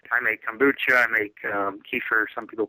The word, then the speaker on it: kefir: I make kombucha, I make kefir, some people pronounce it kefir, milk-based ferment.